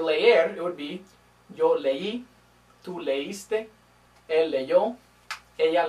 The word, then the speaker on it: leí: So, leí is two syllables, but if I didn't have that accent mark, it'd be ley, which sounds a little bit different.